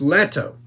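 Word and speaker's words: Leto: just letto I mean Paul is it Paul or Le it's letto keep getting his name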